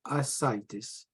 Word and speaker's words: ascites: What we mean by ascites? I need everyone to pronounce it correct.